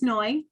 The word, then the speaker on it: Noy: for joining me today my name is Noy it rhymes with joy and I hope this